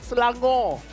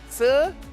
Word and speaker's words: Selangor: in Malaysia, it's called Selangor. Selangor. Selangor. There's an R, but you kind of like don't pronounce the R. It's not like R. It's like a it's like a H.